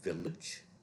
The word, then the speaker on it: village: Then we have large. Large is followed by a silent E. So this is J, as in jazz. Then we have village, also where the G is followed by a silent E.